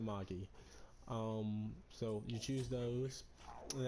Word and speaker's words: Magi: I would pronounce it Magi because I watched The Adventure of Sinbad, and they always said Magi.